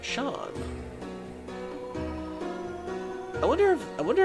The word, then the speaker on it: Seam: The name seam pronounced Shawn.